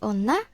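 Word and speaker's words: 女: Yang huruf di kiri bacanya otoko, yang huruf di kanan itu bacanya onna.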